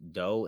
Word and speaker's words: Do: From that do high pronounced Doe and T.